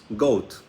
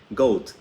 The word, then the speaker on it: goat: ¿Cómo se pronuncia? Goat. Así se pronuncia en inglés. Goat.